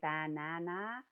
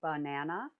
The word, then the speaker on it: banana: We don't say banana, we say banana. And that's because there is schwas.